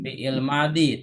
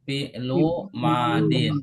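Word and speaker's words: فعل ماض: khalaqo fi'lu madin nah ini cara bacanya jangan fi'il madi tapi fi'lu madin. Kalau fi'il madi itu bahasa Indonesia. Fi jadi kalau dibaca fi'il madi itu bahasa Indonesia. Bahasa Arabnya fi'lu madin ya.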